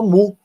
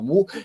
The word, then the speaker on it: Mu: E, mais recentemente, essa cepa Mu. Parece até piada pronta, né? Mas é Mu, que vem de gato. Mas Mu é na letra, na verdade é Mi, né? Na pronúncia do alfabeto grego.